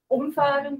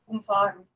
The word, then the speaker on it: umfahren: It's about pronunciation. It's umfahren or umfahren. Umfahren or umfahren? Yeah. Oh, it's about the stress.